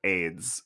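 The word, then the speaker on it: Ayds: It's like that early '8s diet candy that was called AIDS.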